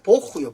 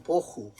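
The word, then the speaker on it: בֹּהוּ: 땅은 혼도하고 공허하며 이 공허란 말은 발음이 좀 비싼데 보후요, 보후.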